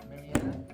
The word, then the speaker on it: Mariana: The Marina Trench is incorrect.